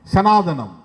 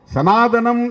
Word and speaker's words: சனாதனா: சனாதனம், சனாதனத்தை பற்றி அந்த சொல்லுக்கான பொருளை எல்லோரும் சொல்லுகிறார்கள், அந்த கோட்பாடு இது என்று யாரும் சொல்லுவதில்லை. சனாதனம் என்கிற சொல் தமிழ் உச்சரிப்புக்காக சனாதனம் என்று அழைக்கப்படுகிறது. சமற்கிருதத்திலே சனாதனா என்பதுதான், இம் என்ற உச்சரிப்பு கிடையாது.